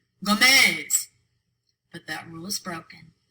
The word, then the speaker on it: Gómez: Béisbol, lápiz, árbol, Gómez. All 4 of those words end in a consonant other than N or S. They should be pronounced with the stress on the last syllable, but they're not.